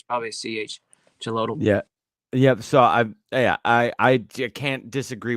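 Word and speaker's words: Xolotl: On Yeah, because Uh, but the X seems to make the ch sound. for Yeah, I think sure. it's sound because I've visited Mexico and visited some place that starts with an X, pronounced like a CH.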